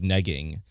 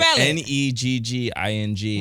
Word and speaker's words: negging: what we do we're good at it's like neing right it's like we're going what you call me neing spell it neing n e g g i n g what does that mean so basic I've been